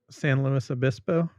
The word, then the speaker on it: San Luis Obispo: San Luis Obispo.